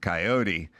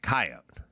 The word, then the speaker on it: coyote: It's written on my screen that some people pronounce it coyote whereas others pronounce it coyote. That's informative. Both are acceptable.